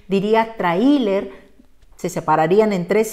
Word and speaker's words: tráiler: terminación nr del grupo de la x dice tráiler como no nos gusta hay que acentuar en cuál de las vocales en la a porque queremos que el diptongo siga unido trailer que continúe siendo de dos sílabas fíjate muy